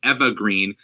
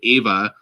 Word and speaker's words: Eva Green: mentioned yesterday we learned that her name is pronounced eva green spiders are your ins you're perhaps natural instinct to say ava or eva um it's because of the com